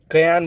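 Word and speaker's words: Cayenne: रखनी है क्या है राजधानी इसकी कयान बोलते हैं या केन बोलते हैं कुछ भी बोल सकते हो अब स्पेलिंग याद ो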